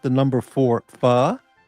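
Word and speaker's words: phở: It's not It's not pronounced fu, it's fur.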